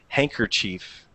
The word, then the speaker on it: handkerchief: You see how I put like an ER? I don't even pronounce the K, you know, but it should be properly handkerchief, okay?